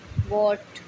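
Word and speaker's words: what: डब्लू के तुरंत बाद एच आता है तो एच साइलेंट रहता है। जैसे कि वाई, वॉट, वैन, वेयर।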